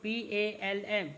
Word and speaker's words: palm: House boat is made up of wooden, WOODEN, wooden, PLANKS, planks, wooden planks, bamboo poles and palm leaves, PALM, pronunciation is palm, LEAVES, leaves, palm leaves.